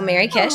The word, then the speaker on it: MerryKish: Well, I am on most major social channels, Twitter, Instagram, Blue Sky, under my name, but it's spelled MERRYKISH. So Mary Kish.